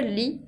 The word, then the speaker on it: lis: On utilise je lis con la S finale que no se pronuncia.